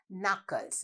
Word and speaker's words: knuckles: Knuckles. When you say knuckles, there is a silent K.